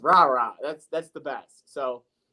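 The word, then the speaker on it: Rara: good ball he likes rah-rah Thomas and I love saying that name every time I see it Robert Thomas number one receiver Mississippi State come on now his name is r-a-r-a it's just rah-rah that's that's the best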